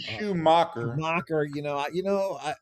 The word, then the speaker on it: Schumaker: That would be Schumaker. I always. But if it's Schumacher, then why didn't they spell it with the CHER instead of the KER?